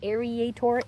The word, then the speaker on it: aerator: An aerator. Aerator. Sounds like alligator.